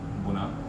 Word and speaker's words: Bună: Bună. Like bună ziua. Do you know Spanish? Oh yeah, buenos dias. Yeah. It's like bună ziua. Buenos dias. Kind of. Close enough. Say it again. Bună ziua.